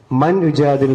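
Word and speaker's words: مَن يُجَادِلُ: മൻ യുജാദിലു എന്നല്ല, മൻ യുജാദിലു, യാലേക്കാണ് പിന്നെ ഉച്ചാരണം പോട്ടെ.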